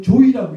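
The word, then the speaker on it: 召史: 남편이 향이나 평민이 아 한자 한자로는 소사를 쓰거든요 소사 불루 수자 사기사 그런데 그게 이두로 읽을 때는 조이라고 읽어야 된대요 조이 그러니까 김주이 박주이 이렇게 불렀다는 거죠 예에 그 그런 그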